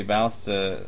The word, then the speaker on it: ballista: Well, you can assign this one, like the Heavy Ballista, you can assign that one's damage first. What's a and then ballista? Ballista. You put the wrong emphasis on the wrong, Wrong syllable.